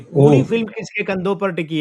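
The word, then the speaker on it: Preity: इनका मूल नाम तो प्रीटी झिंगटा था। जेड आई एन जी जी प्रीटी प्रीति नहीं प्रीटी वो अंग्रेजी वाला प्रीटी सुंदर प्रीटी वुमेन वाला स्पेलिंग तो वही लिख रही है अभी मतलब अभी तो लिख रही है इनका नाम लेकिन हिंदी में प्रीटी का प्रीति हो गया प्रीति जिंटा हिंदी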